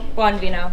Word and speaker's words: Bonvino: Bonvino. Bonvino. Okay. I can see that potentially being pronounced like probably two or three different ways, so let's try and not to be extra letters.